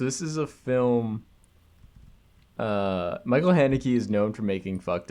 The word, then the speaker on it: Haneke: Okay, this week's film is The Piano Teacher, directed by Michael Haneke. That's how you pronounce his name.